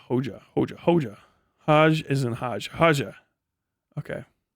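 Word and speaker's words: Hoxha: If I remember correctly, Hoja is pronounced like Hoja.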